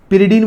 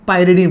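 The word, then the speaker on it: pyridine: पिरिडीन बोलेंगे या फिर पायरिडीन बोलेंगे, दो लोग इसको अलग अलग प्रोनाउंसिएशन करते हैं।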